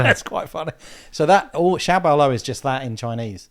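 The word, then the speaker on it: 小保罗: So that xiaobaoluo is just that in Chinese. Right. Xiao is small, and baoluo is how you say in Chinese.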